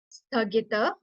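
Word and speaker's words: स्थगित: Sthagita. Sthagita. You have to put pressure on th like th more and s very less pressure.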